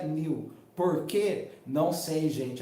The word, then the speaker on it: NULL: Se escreve NULL, N-U-L-L, mas se pronuncia New.